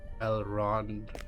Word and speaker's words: Elrond: Elrond.